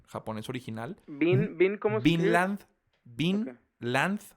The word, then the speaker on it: Vinland: Vinland, así de tierra, pues, Vinland. Okay. Como Bin Laden. No, V-I-N, Land, así pegado, Saga.